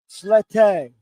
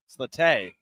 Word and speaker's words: Slette: And he told me, "Well, if you actually want to say it right, you have to be softer on the E. It's Slette." Slette.